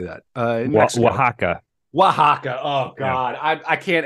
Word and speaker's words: Oaxaca: you I've done the magic mushrooms in Osaka ohexica how do you say that uh Oaxaca Oaxaca oh God I can't edit that um